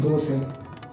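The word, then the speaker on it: தோசை: We'll take a word called dosai. Dosai, it is written as tochai, ta and cha.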